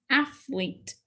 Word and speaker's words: athlete: Athlete. The accent mark again is at the first syllable.